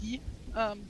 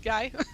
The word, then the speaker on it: Guy: Which is why his name is pronounced Guy, not Guy. Because it is the French pronunciation.